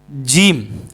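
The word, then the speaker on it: ج: বলেন আলিফ বা তা সাের অক্ষরটা হচ্ছে জিম। সার পরের অক্ষরটা কি? জিম। আর সা অক্ষরটা কোথায় থেকে উচ্চারণ হয়?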